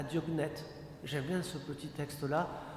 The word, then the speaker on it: Diognète: Vous tapez Épître à Diognète, comme ça se prononce, D-I-O-G-N-E-T-E, hein, Diognète.